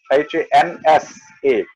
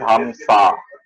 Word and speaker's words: Hamsa: Yes, because swan in Hindi we say Hans, Hansa, and many times it is Hamsa. Yeah, because in ancient Jyoti, in ancient Sanskrit, you would pronounce the A, but as time went by, you dropped it.